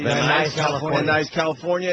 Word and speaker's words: Van Nuys: of uh van what how do you say van nuys nice california nice california it's a guy look at